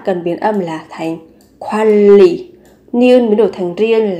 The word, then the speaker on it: 관리: Thì ở đây mình lưu ý về cách phát âm, các bạn cần biến âm là thành 관리, niên mới đổi thành riêng là 관리, quản lý.